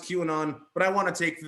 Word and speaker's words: QAnon: all those queerin on conspiracy I know it's pronounced qanon but I want to take the duration derogatory